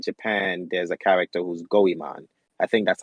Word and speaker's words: Goemon: If it was Japan or Egypt, such as, I think in Japan there's a character who's Goemon. I think that's how you pronounce his name, Yeah, Goemon.